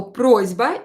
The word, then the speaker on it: просьба: Here you can hear that I pronounce S as Z. Просьба. Просьба. A request. Why? Because I have voiced consonant here. Ignore the мягкий знак, but here I have the voiced consonant B. So unvoiced S will become voiced. Просьба. S will become Z. Only in pronunciation. So you should write it like that, but pronounce it with Z.